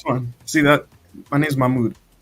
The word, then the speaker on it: Mamoudou: How do you pronounce it? It's fun. See that? My name's Mahmoud. Mahmoud.